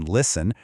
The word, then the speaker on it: listen: So, here we've got silent Ts and silent Ls. Think about it for a sec. You never hear the T in listen or castle. And that L totally vanishes in words like walk, talk, or palm.